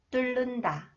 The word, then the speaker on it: 뚫는다: Okay, the second rule, when the final consonants 리을, 리을 히읗, 리을 티읕 are followed by 니은. Okay, 니은 is pronounced 리을. 실내, 실내, 7년, 7년, 닳는다, 닳는다, 뚫는다, 뚫는다, 핥는다, 핥는다.